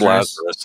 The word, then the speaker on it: Lazarus: Doctor, I keep saying it wrong, but it's Lazarus, like Lazarus Long.